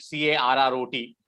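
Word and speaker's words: caret: sound similar one we already know is carrot c-a-r-r-o-t which is the vegetable what is another word that is has a same pronunciation so three words same pronunciation anyone the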